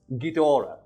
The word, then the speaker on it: Ghidorah: Speaking of which, enemies, Ghidorah, which I got checked by a friend of mine who speaks fucking Japanese and I'm pronouncing that correctly.